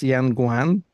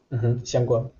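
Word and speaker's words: 香港: Yeah, but Hong Kong is a perfect example because for a Mandarin speaker, it's Xianguan. Xiangguan. Yes, because the two characters, one means fragrant, the other means harbor, right? The Cantonese pronounce them completely differently.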